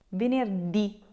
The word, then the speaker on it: venerdì: so Monday through Friday, you will need to put a little accent on that last letter.